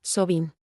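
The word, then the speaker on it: Samhain: Celebraban un festival llamado Samain, que se pronuncia Sobin.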